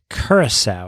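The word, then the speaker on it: Curaçao: Curacao. It's in the Dutch Curacao, Antilles. yes. Curacao, we've heard. a Am I big- pronouncing it correctly?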